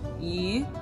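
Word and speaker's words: 鱼: It's yu.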